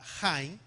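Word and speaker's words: Chaim: Se escribe, si tú quieres escribir la palabra Haim, se escribe C-H-A-I-M. No es como nosotros, la palabra CH, la mayoría de los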